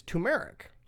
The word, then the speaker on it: turmeric: uh grown on is turmeric now and I think I pronounced it wrong because there's two RS turmeric turmeric turmeric turmeric